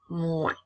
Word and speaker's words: moins: Je continue avec le mot moins. Dans ce cas-ci, la lettre S est toujours une lettre muette.